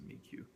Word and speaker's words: Amiiqo: uh they have a support forum for the Amo uh or mq I still haven't really figured out how the pronunciation on that is but I like Amo but I'm sure it's pronounced amik uh you can message